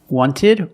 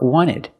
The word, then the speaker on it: wanted: Wanted or wanted. It's more common to hear Americans say wanted. You have nt in the middle. The t is silent.